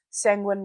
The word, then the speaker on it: sanguine: Hence, sometimes I'll call my followers my penguins, because sanguine rhymes with penguin.